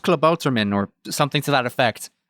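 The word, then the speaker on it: Klabautermann: This is Club Buderman 2.0. Yeah. I hate you guys for saying it like that. You say that, and I know it's pronounced Klabouterman or something to that effect.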